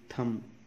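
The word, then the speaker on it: thumb: टी एच यू एम बी, थम, B silent, तो इथ और एम स्ट्रोक होगा, यू के लिए लाइट डैश लंच।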